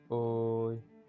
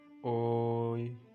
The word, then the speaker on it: ঐ: তার সঠিক উচ্চারণটা হবে ওই। যেহেতু দীর্ঘস্বর বর্ণ, অবশ্যই আপনাকে লম্বা করে টান দিতে হবে। ওই এরকম উচ্চারণ করলে কখনোই হবে না। আপনাকে সঠিক উচ্চারণটা হবে ওই, মানে একটু লম্বা করে টানতে হবে।